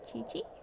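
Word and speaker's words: Qiqi: what's the new characters Chi-Chi I mean yeah that's how wait yeah that's how you say her name Chi-Chi I have this little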